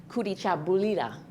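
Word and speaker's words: Kujichagulia: The second one, it's pronounced in Swahili, Kurichabulira.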